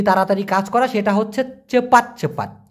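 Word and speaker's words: cepat: কাজ করা সেটা হচ্ছে চেপাত চেপাত সি পি এ টি উচ্চারণটা হবে চেপাত চেপাত মানে হচ্ছে তাড়াতাড়ি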